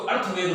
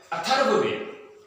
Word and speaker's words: अथर्ववेद: कई लोग इसको अर्थवेद बोल देते हैं, जबकि सही रूप में यह है अथर्ववेद।